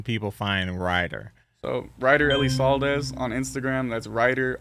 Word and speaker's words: Elisaldez: so where can people find Ryder so Ryder Ellie saldez on Instagram that's writer r yde r. Ellie saldez e l i s a l DZ Elie sales that's how it's pronounced Ellie sales we got that well Ryder I appreciate you